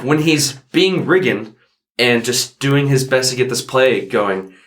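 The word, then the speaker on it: Riggan: And so you get, I don't want to say the main character's name wrong. Is it Regan or Regan? Regan, okay.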